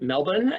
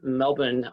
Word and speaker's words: Melbourne: going to stay in melbourne and if you want to sound like a native the the r is silent uh so this is a